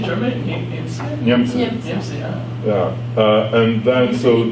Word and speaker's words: Niemcy: Niemcy.